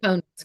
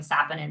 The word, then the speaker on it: saponins: I always mispronounce is it saponins? How do you pronounce that? Mate saponins, correct. Saponins. Okay. The first time I did, I just called it like saponins, and someone made fun of me.